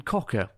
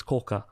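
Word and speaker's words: 甲賀: first my first two years I lived in ccka that's not that's how you pronounce it it's CA I've never heard of this this is not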